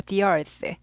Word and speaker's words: the earth: 근데 이제 이가 모음이니까 the earth 하지 않고 the earth, the earth, the earth.